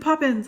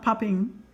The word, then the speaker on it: Poppins: kick out of me i said poppins i said it right yay not popping i'm like popping no anyway it's soft